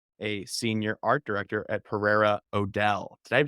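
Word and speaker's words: Pereira O'Dell: because you are a senior art director at Pereira Odell did I say that did I pronounce agency correctly yes but you can call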